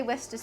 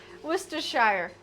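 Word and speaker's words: Worcestershire: It's a funny word to try and pronounce especially if you I just say woristers sauce but I think it's worshshire worershshire.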